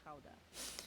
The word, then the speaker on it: Gouda: Gouda, or Gouda, as it's Mmm, pronounced the here.